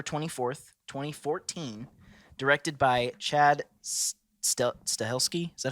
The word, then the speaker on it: Stahelski: released on October 24th 2014 directed by Chad stahelski is that how you pronounce that say it yeah stahelski and David leech leech yeah which if you